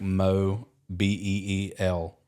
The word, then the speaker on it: Mobile: Courtney has a hat that's literally just the pronunciation of Mobile, Really? like Mo Beel.